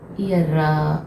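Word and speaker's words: ihr: ईयर, ईयर, ईयर, ईयर, नॉट रा बट ईयर। Hindi में लिखना थोड़ा मुश्किल है, ईयर। ठीक है, listen to me very carefully. ईयर, ईयर। इस ई को आप स्ट्रेस नहीं देंगे, ईयर रे भी नहीं बोलेंगे, ईयर।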